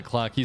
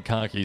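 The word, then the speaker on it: Clockie: is himo okay listen I have mispronounced the Clocky statue so many times I usually say cocky statue and that's just it's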